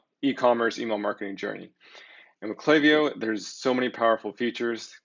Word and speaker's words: Klaviyo: here they state that we've heard all sorts of pronunciations of clay vo clay vo whatever but the way it's pronounced is clay vo so there you go